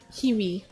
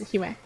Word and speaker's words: Hiwa: The first time I actually read in my head was like Hiwi, but okay, I'm gonna pronounce it as Hiwa.